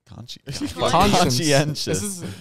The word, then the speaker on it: conscientious: It makes a she sound.